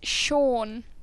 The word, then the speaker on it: Siobhan: adorable yep just clarify his mum is Shaun its Siobhan in case you don't know I say I've had a lot of people saying it wrong did I do a